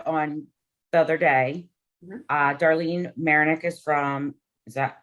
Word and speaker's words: Mayernik: Darlene Mayernik is that how I say it right?